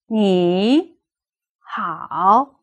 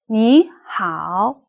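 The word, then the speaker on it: 你好: can have tone changes if two thirds appear next to each other the first one should be pronounced as a rising tone which we call the second tone me how me how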